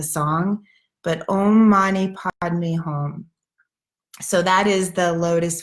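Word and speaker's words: hum: a DM E and then home which is H um I kind of say it like home so um Monni padmi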